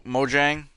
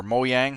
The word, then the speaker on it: Mojang: And I know that Minecraft is currently like uh Mo Mojang or Moyang, however you want to pronounce it, uh they're working on some kind